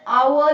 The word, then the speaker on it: hour: all it's not pronounced as hover it is pronounced as r or our so he's an hour late ah again it's a vowel sound he's